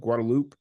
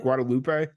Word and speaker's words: Guadalupe: San Antonio and Austin on the guadaloop um I found out that that's how San antonians say it because I've been pronouncing it Guadalupe um but you know right